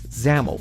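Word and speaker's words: XAML: page dot zamel yep that is pronounced zamel we'll talk about that more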